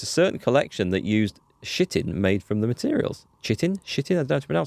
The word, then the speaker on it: chitin: via text right so like chitin with a CH sound at the front yeah it is it